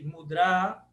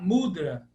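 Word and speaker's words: mudrā: pode pesquisar mais eh qual é a pronúncia da palavra mudr esse a esse a longo Esse mudr termina com a longo então é mudr no Brasil a gente tem uma tendência a falar mudra mudra você já devem ter ouvido mas não mudr porque esse a longo é final eh Jocasta pediu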